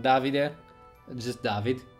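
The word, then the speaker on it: Davide: so there's the David it's pronounced not David non Davi dear I'm just David it's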